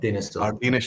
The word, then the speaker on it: Càirdeas: we would be saying I'm used to saying Arden Steel, and I know that that's wrong. So it's Càirdeas Steel.